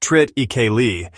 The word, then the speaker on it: triticale: Triticale, pronounced trit-ikeli, is a hybrid grain created by crossing wheat and rye.